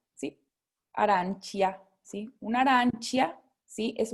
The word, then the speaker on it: arancia: aranquia. Arancia, arancia, ¿sí? Porque tenemos la C y la I, ¿sí? Entonces, chi, ¿ok? Pero aquí como es una A nada más, K, ¿sí? Arancia, ¿sí?